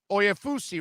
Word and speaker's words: Oyefusi: and there he is daniel oyafusi right is it is that how it's pronounced it's there you got it right i love it how